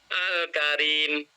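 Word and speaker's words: الكريم: Misalnya al-karim, alnya harus dibaca al.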